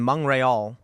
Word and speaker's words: Montreal: So in Montreal, that's how it's pronounced.